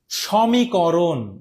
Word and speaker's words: সমীকরণ: আমরা দন্তন্য ব্যবহার করব এখন দেখো সমীকরণ তোমরা উচ্চারণ করো সমীকরণ আচ্ছা স কি স এর মত হচ্ছে এখানে কিন্তু ও এর মত উচ্চারিত হচ্ছে না ওকে যদি ও এর মত উচ্চারণ হয় তাহলে প্রথম যে বর্ণ সেখানে আমাদের স ওকার দিতে হবে সমীকরণ নট সমীকরণ তাহলে ক নম্বর যে বলেছে সেও ভুল গ নম্বর যে বলেছ সেও ভুল এখন